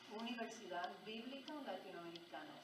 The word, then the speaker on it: Universidad Bíblica Latinoamericana: If you're going to come down, you're going to have to be able to pronounce that in Spanish. The way you pronounce that in Spanish is UBL. UBL. Oh, okay. That's what everybody says, UBL.